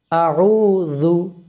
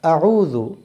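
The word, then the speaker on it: أعوذ: নরম করে উচ্চারণ করবেন। আমার সঙ্গে বলুন আউজু আচ্ছা আউজু এর মধ্যে এইযে আউজুবিল্লাহি মিনাশ শাইতানির রাজিম এর মধ্যে কঠিন যে শব্দটা সেটা হল আউজু এটা একটু সুন্দর করে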